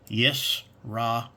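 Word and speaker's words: ישראל: For Israel, it's Yisrael.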